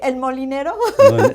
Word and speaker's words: El Molinero: You pronounce it. So he doesn't remember. You have a better accent than I do. Okay, El Molinero.